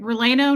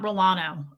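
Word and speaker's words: relleno: Releno. Not Rolano.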